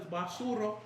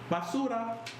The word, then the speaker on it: basura: you said, Miguel is basuro. Basuda. Basura. That's how you say it?